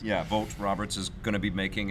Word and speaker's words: Vogt Roberts: me that's how it's pronounced. Yeah, Vogt Roberts is going to be making a Metal Gear film.